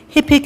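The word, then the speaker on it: hippic: with Keen interest the schedule of the chief hipic events of the coming season are there any alternate pronunciations no hipic am I pronouncing it right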